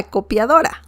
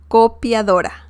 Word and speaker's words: copiadora: in spanish you say this like this la copiadora la copiadora la copiadora copier so it's very very easy to say